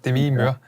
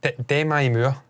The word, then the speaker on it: Demi Moore: Demi, obviously, or Demi, as I've since discovered her name, apparently it's pronounced Demi Moore.